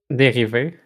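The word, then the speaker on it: dérive: Derive is the French, it's a derive. I don't know. What is it, Estelle? How do you pronounce that shit? Dérivé. That's what I thought.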